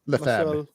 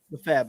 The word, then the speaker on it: Lefebvre: Lefebvre. Lefebvre.